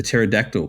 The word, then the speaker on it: pterodactyl: go to the bathroom the pterodactyl cuz the p is silent but anyway see see